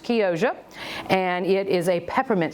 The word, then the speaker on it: Chioggia: It is actually spelled C-H-I-O-G-G-A, but I was corrected by a young lady at the farmer's market who said it's pronounced Chioggia, and it is a peppermint striped beet.